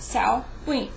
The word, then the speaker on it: Samhain: Samhain is spelled a little more different, but it is actually pronounced Samhain.